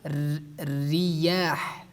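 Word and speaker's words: رياح: Like the examples you see, like we say riyah, riyah, riyah. Because ra has a kasra at the bottom, we pronounce it in weakly.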